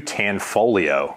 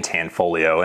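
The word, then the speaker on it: Tanfoglio: gonna bring us to tanfolio there's a silent g in tanfolio and that makes you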